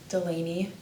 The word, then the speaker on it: Delaney: For transcription purposes, do you mind telling me your name, how to spell it, and what your title is? My name is Delaney.